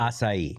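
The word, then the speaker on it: açaí: and asai is it asai or I always pronounce it asai.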